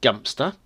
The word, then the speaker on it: Godmanchester: come over to a dunstable to pad hmm godmanchester now as promised in the last episode godmanchester is the feature of our factoids of the day and the course godmanchester just pronounced dumpster dumpster is down in Cambridgeshire I believe flat